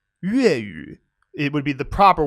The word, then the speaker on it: 粤语: Cantonese is 粤语, 粤语.